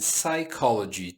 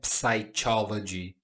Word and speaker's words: psychology: Temos uma palavra com silent p. Que que é silent p? Não pronuncio o P, somente palavra que vem depois. Esse som aqui é de K, então não é psychology, tá? Psychology, OK? Pychology. psychology.